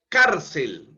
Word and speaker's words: cárcel: en la a no cárcel también es una palabra grave cárcel la entonación está en la penúltima sílaba cárcel termina en una consonante l entonces tengo que tildar esa palabra cárcel en la a Okay las esdrújulas siempre